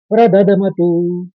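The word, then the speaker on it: प्रदध्मतुः: ध भी निकलेगा और ध भी निकलेगा प्रदमतु प्रदमतु आ रहा होगा समझ में हल्का सा ध आएगा हल्का सा ही ध आएगा प्रद दमतु उच्चारण में तो द या ध एक ही सुनाई देगा लेकिन नियम जो है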